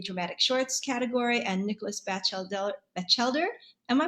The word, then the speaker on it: Batchelder: Johanna Falzon and Sarah Hallowell in the dramatic shorts category, and Nicholas Batchelder. Am I pronouncing that correctly? Could you tell It's us? Batchelder. Batchelder, Yeah.